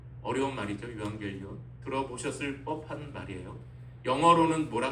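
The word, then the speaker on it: εὐαγγέλιον: 복음은 헬라어로 유앙겔리온이라고 이렇게 발음합니다. 어려운 말이죠. 유앙겔리온.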